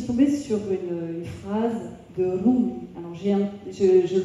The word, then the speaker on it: Rumi: Un jour, je suis tombée sur une phrase de Rumi. Alors je le prononce bien là parce que j'étais mariée pendant 19 ans à un Égyptien, donc je me la pète un peu là, Rumi.